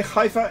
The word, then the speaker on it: Haifa: dutch you should be able to say haifa as it meant with fifa it's like the back in your throat yeah i know it's